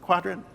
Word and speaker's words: Qdrant: So Quadrant is, I call it Quadrant. I don't know how to pronounce it. Is it Quadrant?